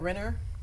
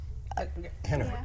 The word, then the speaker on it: Rener: Yeah, is that Rener? Henner. Henner. Okay, Henner. Brazilian, so, Okay. so all the R's. they Or pronounce H.